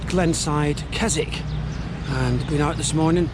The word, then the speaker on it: Keswick: Not Keswick, it's Keswick. Right, got you. Because there's a place in England called Keswick. It's spelt the same, but we pronounce it differently.